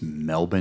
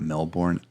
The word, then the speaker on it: Melbourne: I'm American not Spanish so I'm going to pronounce it whenever someone tells me it's melbour not Melbourne I said I had hooked on phonic as